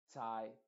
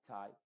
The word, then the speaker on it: tie: En la combinación IE, esa E es completamente muda y la I se está pronunciando con su sonido original que es I.